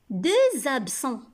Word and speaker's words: deux absents: Deux absents. Le mot deux s'écrit avec la lettre X. Mais quand je fais la liaison, j'entends Z. Deux absents.